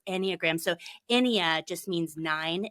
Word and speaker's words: Enneagram: anagram not enag not en it's and it's pronounced anyag so enia just means nine in Latin and